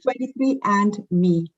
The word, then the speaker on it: 23andMe: What do you pronounce it? 23andMe.